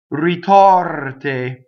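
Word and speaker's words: ritorte: So notice that the O is open and the E is closed. The O is in the stress position. We're going to memorize it is open. The R rolls, it touches the T, and we know that the E is closed because everything in an unstressed position is closed.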